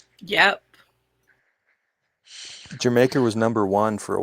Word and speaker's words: Jamaica: It's pronounced like the country. It's Jamaica.